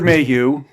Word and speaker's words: Mayhew: Fisher Anthony Daniels c-3po Peter Mayhew which is the correct way to pronounce his name yes r2d2 as r2d2 James